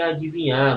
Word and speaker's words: adivinhar: destacar aqui ó AD Olha o i esse I aqui rapaz não soma com ele não viu pessoal às vezes some com esse I eles exploram eles que